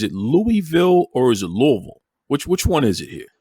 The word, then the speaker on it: Louisville: Is it Louisville or is it Louisville?